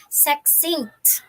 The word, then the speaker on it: succinct: So we have here the word succinct. Okay, it's pronounced as succinct.